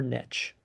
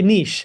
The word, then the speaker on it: niche: here struggling to find their niche or I should say niche. I said it wrong.